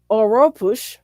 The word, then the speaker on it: Oropouche: The pronunciation Oropouche, oh good, he gave me Oropouche, is harbored in birds, monkeys, rodents, and sloths.